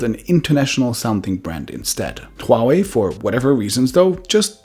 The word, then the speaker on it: Huawei: No, it's not actually Huawei because the H is pronounced pretty clearly in Mandarin Chinese, so the correct pronunciation would be Huawei.